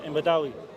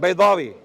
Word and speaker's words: Baydawi: Imam Badawi. who? Right. Baydawi.